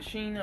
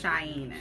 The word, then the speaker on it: Shaina: Was it Sheena or Shaina? Okay. My name is Shaina.